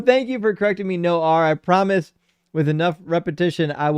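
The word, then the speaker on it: Noir: No R is the pronunciation. No R. I'm so sorry. That's on me. I read so many people's names. It's hard to keep track of which ones don't get pronounced like the way they look. But no R says French for black.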